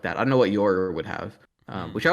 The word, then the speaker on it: Yoru: also learned is actually just pronounced Yor. But I guess Yora was how they translated it in English for some reason. I mean, it is pronounced Yoru, but I guess what